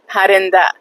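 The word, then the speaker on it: پرنده: It's parinda, parinda, okay? Parinda, okay, which means birds, parinda.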